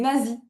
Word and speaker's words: Nazis: Des Allemands donc des nazis. Ah oui, c'est nazi. Nie en anglais, ça se dit Nazis. D'accord. C'estcrit pareil, c'est juste la prononciation qui est un petit peu différent.